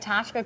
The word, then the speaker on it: Ptashka: on Monday all right Tasha Crepes and it starts with a P you told me you've you've taught me so much today the p is silent so just so everyone